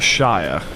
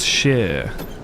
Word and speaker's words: Shire: we had about the Shire. Yeah, it's not No one ever says the Shia. It's not pronounced shire in the UK. It's sheer.